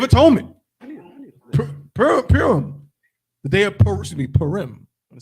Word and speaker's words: Purim: The day of Purim.